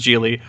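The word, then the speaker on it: Gigli: yes and I know the film's pronounced geely i call it jiggly because I refuse to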